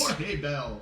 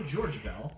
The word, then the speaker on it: Jorge Bell: Jorge Bell or George Bell, depending on where you're pronouncing him from.